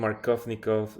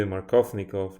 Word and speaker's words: Markovnikov: Yeah, I don't know why I didn't think about that, because that name Markovnikov is too long. Markovnikov. That's four syllables.